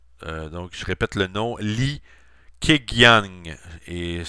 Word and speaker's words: Li Keqiang: chine et plus précisément le premier ministre chinois li keqiang donc je répète le nom li keqiang et s'écrit cas qu ing dans le pardonner mon